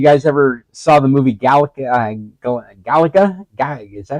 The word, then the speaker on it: Gattaca: This reminds me of if you guys ever saw the movie Gattaca. Is that how you pronounce it? Gattaca.